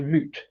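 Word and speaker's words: Mout: Um, moot to me, M O U T is a cider company from New Zealand, but they actually say it's pronounced moot.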